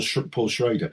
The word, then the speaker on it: Schroeder: an American historian called Paul Schroeder or Shreder that's how you pronounce his name Paul Paul Shredder.